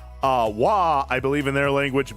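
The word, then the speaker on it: Waaagh: For those of you who don't know, wah or w a a a g h. The g is silent. Uh wah, I believe in their language means just war.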